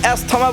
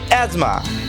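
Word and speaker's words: asthma: অ্যাজমা, শ্বাস প্রশ্বাসজনিত রোগটির নাম অনেকের উচ্চারণ অ্যাসোস্থমা বা অ্যাস্থমা বলে ভুল করে। এর সঠিক উচ্চারণ হবে অ্যাজমা। সবচেয়ে বহুল প্রচলিত শব্দ এডুকেশন,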